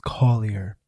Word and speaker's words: Collier: I kind of stutter still, but it's Collier.